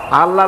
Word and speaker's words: আল্লাহ: আল্লাহ না, কিন্তু মুখটা গোল করে উচ্চারণ করতে হবে সুন্দর করে, আল্লাহ।